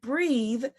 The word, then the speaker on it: breathe: short e sound and breathe is pronounced with a long e sound breath the noun is